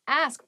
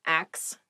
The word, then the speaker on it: ask: next word is ask ask please pronounce this correctly it is not ax many native speakers make this pronunciation mistake and it really bothers